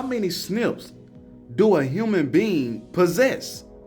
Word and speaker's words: SNP: little thing down so what is a snip snps pronounced Snips are Comon and share